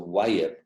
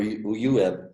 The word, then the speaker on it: Wayeb: And this 5 days is referred to as the Wayeb, or Uyeb would be another pronunciation of the word, meaning it was the 5 days when we do nothing.